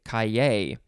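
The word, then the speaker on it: cahier: I think it's either kaye, or kaye, or kaye. There's kaye or kaye, something like that. It is spelled C-A-H-I-E-R. I'll just say kaye.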